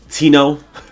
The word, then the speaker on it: Tino: Tino. Is the J silent? Tino. How do you say it, Kesh? Tino. Yeah, Tino. Tino. Okay. Yeah. It's like Martin, but Tino.